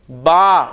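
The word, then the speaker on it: ب: हम अरबी लफ्ज में जब बे आएगा तो हम उसे बे नहीं बोलेंगे बल्कि क्या बोलेंगे बा फे आएगा तो हम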